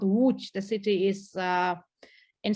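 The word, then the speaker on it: Łódź: of another polish city which you will never pronounce called sorry but it's a very true very very funny name that is always making problems for anyone abroad it's called wooch the city is uh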